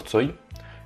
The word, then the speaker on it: Цой: Alors prononcé à la française, ça donne Victor Tsoi.